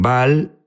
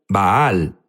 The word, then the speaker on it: Baal: Jesús habló sobre bal unos dicen bal baal es la pronunciación correcta correcto pero sabes qué